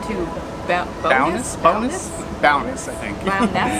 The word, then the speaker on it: Bowness: Bowness, I think actually is how they're pronouncing it.